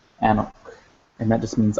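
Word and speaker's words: ⲁⲛⲟⲕ: So it's pronounced anok, anok, and that just means I.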